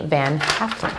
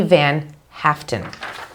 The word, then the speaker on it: Van Haaften: rowe and secretary jamie van halen for one star let me pronounce that properly jamie van haaften nice name big changes